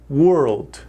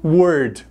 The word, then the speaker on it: world: para a palavra mundo muitas pessoas falam essa palavra errado eles não pronunciam uma das letras porque nós temos uma